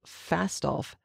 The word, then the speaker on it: Fastolf: side t-a-l-b-o-t talbot and fast off i keep thinking it's a mispronunciation or a misspelling of falstaff that is not true it is f-a-s-t-o-l-f-e talbot and falstaff are